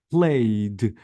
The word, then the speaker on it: played: Played, I deleted E and I maintain the D.